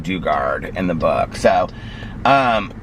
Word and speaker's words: Dugard: I guess it's ji I thought it was J duard I guess it's j she pronounces her name Dugard in the book so